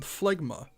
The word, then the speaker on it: Phlegma: cooldown sage does have another unique move called phlegma yes that is how it is pronounced this move is on a 45 second